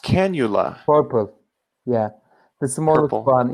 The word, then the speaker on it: cannula: is pink right not pink um and it's pronounced cannula purple yeah the smaller one is purple okay